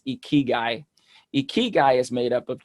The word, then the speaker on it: ikigai: in japan you have a philosophy uh it's pronounced ikigai ikigai is made up of two japanese words